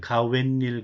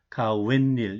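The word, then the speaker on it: 가욋일: 가외일은 뭐예요? 가웬일 그런데 우리가 가외일이라고 하지 않아요. 가웬일 이렇게 하죠. 가외일 그러니까 아르바이트예요.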